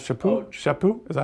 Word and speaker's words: Chaput: Supich. No, Charles Chaput.